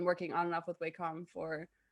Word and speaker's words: Wacom: Everyone pronounces it Wacom, but it's Japanese, right? So it is different. But everyone in North America pronounces it wrong, and they've kind of just given up to that. So, gotcha. Thank you for clarification. Yeah. Basically, neither answer is wrong until you go to Japan.